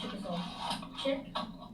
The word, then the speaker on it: Chickasaw: Also, real fast, here's how if you've been wondering, here's how you pronounce Chickasaw.